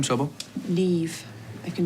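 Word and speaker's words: Niamh: you say so yourself what's your name trouble neve i can spell it next round's on me hmm n-i-e-n-h damn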